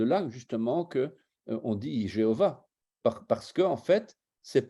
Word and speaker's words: Jéhovah: déjà à l'époque alors les voyelles du tétragram seront EOA ce qui fait qu'on va prononcer Jéhovah vous voyez bien d'où